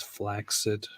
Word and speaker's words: flaccid: Did you know that the word flaccid is actually more accurately pronounced as flaccid?